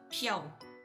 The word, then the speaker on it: Piao: My name piau. So P I A O itu bukan Pia itu piau.